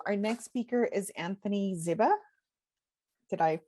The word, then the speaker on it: Ziba: Our next speaker is Anthony Ziba. Did I pronounce that correctly? It's Ziba, but it's okay.